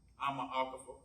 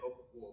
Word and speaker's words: Ama Arkorful: Amaarkorful. Okay, you said it. You got it. Okay. I wanted to say Okafor, but I don't like messing with it.